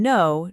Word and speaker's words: know: Pronouncing know just like no.